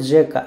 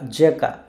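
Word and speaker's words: rzeka: এবার হচ্ছে আর জেড, আর জেড কে ওরা একসাথে উচ্চারণ করে, এখানে আর এর উচ্চারণ হয় না। সো জি, জি, সো শব্দটার উচ্চারণ হচ্ছে জেকা, জেকা, জি, জি, জেকা, জি, জেকা, জেকা মানে হচ্ছে নদী বা রিভার।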